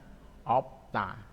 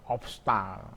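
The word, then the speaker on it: 없다: Bacanya opta. Susah ya, obsta. Makanya opta.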